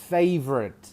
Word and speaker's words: favorite: favorite.